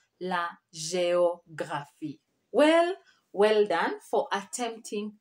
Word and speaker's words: géographie: Someone was saying la géographie. No, géo. There is an accent there. La géographie.